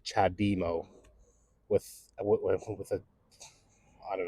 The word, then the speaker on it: CHAdeMO: but honestly it bugs me when people just pronounce it like Chad demo with with a I don't know um so it's chademo right that is a chademo charger and um